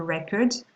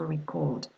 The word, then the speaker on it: record: We've already seen that for nouns, the stress is on the first syllable, while for verbs, the stress on the second syllable. Okay, do you remember this example, a record that we saw earlier, and to record?